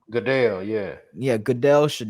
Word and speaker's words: Goodell: Goodell. Goodell, yeah.